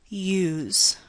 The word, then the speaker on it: use: We don't write a Y at all in the spelling, but we still produce the word as if it had one. We produce a sound that we leave out of the spelling. And note, if we did produce the word without the Y sound as it is spelled, it would actually sound like quite a different word of English, ooze.